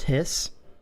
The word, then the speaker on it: HYS: Is pronounced Hiss.